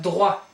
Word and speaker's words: droit: Then we have droit, droit, don't pronounce the last T, droit.